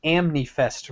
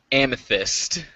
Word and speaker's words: amethyst: Chris also receives what he calls his Amnifest ring, which is his high school ring. It's his birthstone, which is an Amnifest ring. I actually don't know how to say the proper name of the jewel. Amethyst.